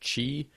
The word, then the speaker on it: Qi: It's a I think it's pronounced Qi.